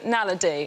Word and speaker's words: naledi: The Homo naledi, or naladi. Nadali.